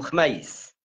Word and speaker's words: خميس: احنا ننطقوها بتسكين الخاء، فنقولوا خميس، هكذا خميس.